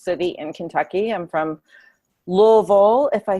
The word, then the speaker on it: Louisville: from the biggest city in Kentucky I'm from Louisville if I say it properly I usually say luiso because nobody people stopped knowing they didn't know